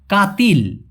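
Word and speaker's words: katil: খাট খাটকে বলা হয় কাতিল কাতিল এগুলো আপনারা প্লিজ লিখে রাখবেন আর আমি যেভাবে উচ্চারণ করি একবার করে হলে উচ্চারণ করবেন তাহলে বলার জড়তা চিরদিনের জন্য চলে যাবে।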